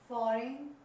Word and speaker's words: foreign: यहाँ पर देखिए जी, यहाँ पर rain, fan, rain, foreign, high, thought. In all these words we have seen G is silent before and, before N or before H.